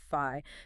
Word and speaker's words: phi: number right exactly fi you pronounce it fi think of fi as